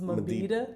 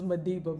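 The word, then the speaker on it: Mabhida: It's like Moses Mabida. Yeah. But I always say Moses Madiba. But Yeah, it's Moses just easier. Mabida.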